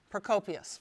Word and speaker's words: Procopius: Gonna have to help me with the pronunciation. Procopius? Procopius, right.